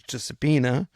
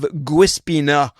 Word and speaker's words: Giuseppina: And I knew it was Giuseppina. But here in Quebec, Giuseppina, they don't pronounce it all that well. So they went, I have Guispina.